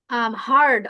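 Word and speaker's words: heard: যেমন হারড আই হারড আই হারড about. আমি এটা সম্পর্কে শুনেছি। অনেকে এটা বলেন আই হিয়ারড এবাউট এই হিয়ারড উচ্চারণটা ভুল আমি শুনেছিলাম ইংরেজিকে হিয়ারের পাস্ট টেন্স হচ্ছে হারড নট হিয়ার এরকম যখন প্রনান্সিয়েশনের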